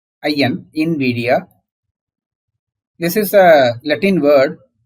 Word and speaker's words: Nvidia: of you are aware of Invidia it is pronounced as Invidia I in Invidia this is a Latin word meaning that someone